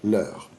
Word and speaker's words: leur: Qual é a pronúncia desse leur? Como se você estivesse falando da hora. Que oração? Quelle heure est-il? Leur.